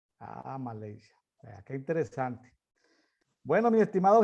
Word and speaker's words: Malaysia: ¿Cómo se pronuncia en inglés Malasia? Malaysia. Malaysia.